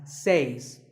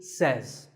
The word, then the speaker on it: says: two is says this word is commonly mispronounced by people learning English as seis but remember I say you say but he or she says number three is etc